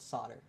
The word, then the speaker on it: solder: Um in the US and Canada, we call it solder. We don't pronounce the L, which is another thing.